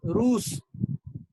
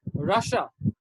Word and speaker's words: Russia: is completely different so in hindi we say ruse but in english it's russia russia russia and this